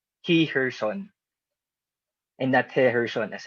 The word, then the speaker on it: Heherson: of the petitioner is herrerson alvarez he's a former senator former secretary of this university she corrected me and said that it is pronounced he her son and that her son